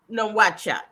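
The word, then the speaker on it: Nouakchott: Moritania is a country and uh how do you pronounce the the capital city? Um that's nohat.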